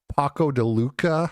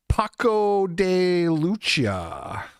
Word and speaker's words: Paco de Lucía: Yeah, that was Paco de Lucía, I believe is how you pronounce his name. If you guys like that guitar, the flamenco guitar. Paco de Lucía.